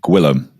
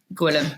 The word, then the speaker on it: Gillum: to pronounce that early it's Gillum Gillum almost sounds Welsh by the way I